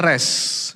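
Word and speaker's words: ר: Kata R itu membacanya res, ya.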